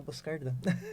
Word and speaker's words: Boscardin: Meu Instagram é @MárciaBoscardin, D-I-N que se escreve, mas se fala Boscardin.